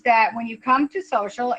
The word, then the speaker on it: Sewcial: But this year we're doing a retreat, and the retreat is called Social, and it's basically, and it's spelled SEWCIAL.